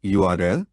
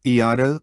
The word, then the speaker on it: URL: without seeing a URL pronounced Ur URL not erl plastered on the side